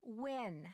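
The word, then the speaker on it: Nguyen: Maya Wynn. Can you spell that, please? M-A-Y. Is that how you pronounce that surname? Yeah. N-G-U-Y-E-N. Like when?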